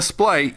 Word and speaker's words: Splight: Or Splight, rather. I used to calling him SP Light, but I think the official pronunciation is Splight.